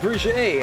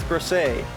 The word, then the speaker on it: Brisset: And I'm sure some nerd right now is gonna be like, actually, it's pronounced Brisset. And I'm like, citation needed? Because he's Dutch and I'm Dutch, and I look at that name and I'm like, it says Brisset.